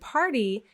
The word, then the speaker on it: party: The quick D sound that we do in American English in place of the letter T, that quick D sound may actually sound to you like an R.